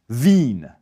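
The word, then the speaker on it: Wien: So the capital of Austria in German it's vin. And when you're in vin you can drink vine.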